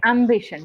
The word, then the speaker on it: ambition: So, ambition. We call it as ambition. The stress is in the first syllables.